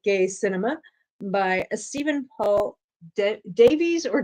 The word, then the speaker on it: Davies: Cinema by Stephen Paul Davies or Davis. I don't know. Some people with that last name spelling pronounce it Davis. Sometimes it's Davies.